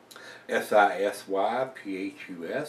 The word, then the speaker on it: Sisyphus: I guess I'm pronouncing that right. S-I-S-Y-P-H-U-S, Sisyphus, and it is a barley wine, and